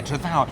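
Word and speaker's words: Trethowan: How do we pronounce it? Tredowan Brothers, isn't it? Tredowan. I did good, Tredowan.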